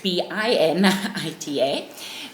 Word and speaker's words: Bernita: My name is actually Bernita, pronounced Binita, but spelled Bernita, kind of as a mistake by my father on my birth certificate.